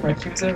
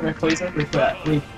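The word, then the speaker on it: Rayquaza: Rekusa? Rekwaza? Rekwaza. Rekwaza. Cause he's like a... Imagine a quasar.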